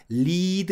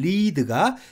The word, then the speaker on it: lead: 무슨 말이냐면 예를 들어서 lead 리를 사전에서 찾으면 발음기호에 리드 이렇게 점 두 개 콜론이 그러죠 장모음 표시가 되어 있습니다 이게 무슨 말이냐 면은